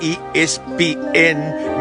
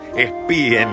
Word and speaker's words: ESPN: Pero cuando tenés que nombrar ESPN, nombrá todas las letras, no es espien.